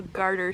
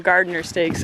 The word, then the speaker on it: garter snake: Little garter snake. Everybody calls them gardener snakes. I'm pretty sure it's garter.